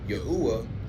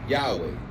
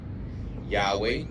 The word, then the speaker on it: Yahweh: Yudhe wave or YHW wh compared to Yahwha which is a modern variation while it attempts to vocalize the four Hebrew letters it does it cannot because it's a variant it's a misprononunciation it's a misspelled form of the name Yahweh which is supported by historical linguistics as well as manus manuscript evidence.